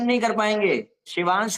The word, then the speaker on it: शिवांश: कोई त्रिवेदी कर देगा, कोई दुबे कर देगा, कुछ कर देगा, कोई शिभांश कर देगा, कोई शोभांश कर देगा, कोई, अरे मेरे पास कमेंट आता कोई दिवांश कर देता है, शिवांश को दिवांश।